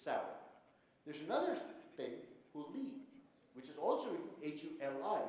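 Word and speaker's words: ಹುಳಿ: That's pronounced Hurli. But it's written H-U-L-I, Hurli, because you don't have this weird la sound in English. It doesn't exist.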